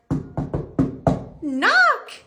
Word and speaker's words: knock: n not super n knock great I night fantastic that's it so K and K is silent k is Silent Goodbye